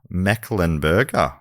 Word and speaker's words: Mecklenburg: Then in 1775, North Carolina became the first state to declare independence from Britain with the Mecklenburg, don't worry, Matt, it's pronounced how it's spelled, Mecklenburg, nailed it.